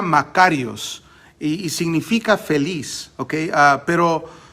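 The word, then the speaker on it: μακάριος: bendecido pero es una palabra griega que se pronuncia makarios iii significa feliz ok pero no de la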